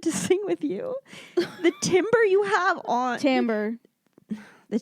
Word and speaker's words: timbre: Because I need to know, because I've definitely used this word and would have pronounced it timber in my writing. It's timbre.